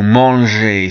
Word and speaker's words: manger: As we know, manger, soft G to eat.